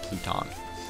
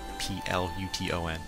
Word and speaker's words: Pluton: named after Gods which are Poseidon Uranus and pluton if I'm correct I wanted to say Pluto but it's in the subs it's pronounced pluton and it's even spelled p l u t o n pluton I was hoping it was going to